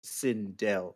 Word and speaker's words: Sindel: So, you, Silas Sindel. It's Sindel, actually. I did say Sindel.